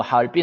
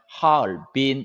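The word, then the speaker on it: 哈尔滨: 와 바로 하얼빈 이에요 하얼빈의 중국 발음은 하얼빈 이에요 하얼빈 1승 삼성 일생 이에요 하얼빈 팔빈 활 빈 우리는 뭐 할빈 할빈 해도 루머 되어 근데 이제 중국어 발음으로 하면 화 얼 빈 이렇게 발음해야 됩니다 그 할빈 지 차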